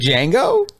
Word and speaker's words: Django: may be silent said did Django I think the D is silent the D is silent